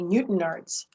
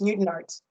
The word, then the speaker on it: Newtown Arts: And it took me a while to recognize it's Newton Arts.